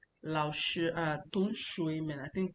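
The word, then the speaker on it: 老师: Lao Shi, you can see my pronunciation. Lao Shi, the third tone, the first tone.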